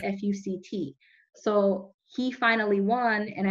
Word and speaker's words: FUCT: Obviously his name sounds like a curse word, right? But it's spelled F-U-C-T.